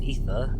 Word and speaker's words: Aether: Boom says, Aether, pronounced Ether, is an old Irish lady that we get the Dusty Essence from.